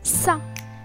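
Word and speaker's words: س: The letter sin, repeat with me, sa. The letter sa is pronounced like the clear English sound s in seat.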